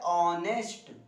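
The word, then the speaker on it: honest: अब vowel sound में समझ रहे हैं, यहाँ एच साइलेंट रहता है, इसको बोला जाता है ऑनेस्ट, हाँ क्लियर है, एच नहीं बोला जाता है, क्लियर है।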